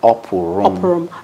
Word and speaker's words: Opurum: So I learned how to pronounce. So Mr. Charles Opurum. Opurum. I got it right.